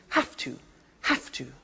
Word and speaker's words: have to: Notice I don't say V, I say F. Have. It becomes have to. Have to becomes in pronunciation have to.